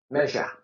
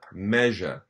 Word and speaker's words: Meisje: And how do you pronounce the name Meisje? This the Frisian woman. Meja. Meja.